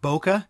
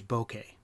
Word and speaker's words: bokeh: This is a Japanese word which was directly adopted into English. I used to think it was pronounced bokeh. It's spelled boke k eh but the correct pronunciation is bokeh.